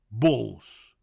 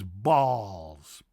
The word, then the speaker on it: Bols: Bols. Wrongly pronounced as balls. Balls. No, it's not balls, it's balls. Balls. Balls. O. Not A, but O.